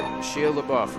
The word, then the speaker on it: Shia LaBeouf: Shia LaBeouf, man. If that's, is that how you say his name? Yeah. Just like Shia LaBeouf.